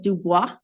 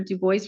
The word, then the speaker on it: Dubois: How do you say your name? I just say Dubo. I like Dubo.